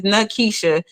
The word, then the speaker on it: Nakisha: My name has 3 syllables. For those who don't know, my government name is Nakisha.